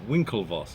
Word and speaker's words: Winklevoss: No, I pronounced it right. Winklevoss.